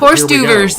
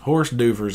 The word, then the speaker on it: hors d'oeuvres: and I'm like, okay, there's like 8 silent letters in hors d'oeuvres. Horse d'oeuvres.